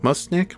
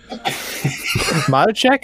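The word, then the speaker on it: Matuschek: his last name again must Nick mooshnick mod check is what you want to check thank you Mushy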